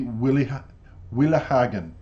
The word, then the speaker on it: Willighagen: young Dutch lady, Amira Willighagen, I'm going to pronounce this properly, Willighagen, there you go, has captivated everybody at the